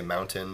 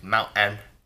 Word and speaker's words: mountain: Not like a whole lot, but I know that a lot of people in Utah don't really pronunciate their T's. Like when they say mountain, they say mountain.